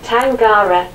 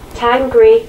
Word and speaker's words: Tengri: Some pronounce this great name as Tangara, the others, Tangri or Tengri.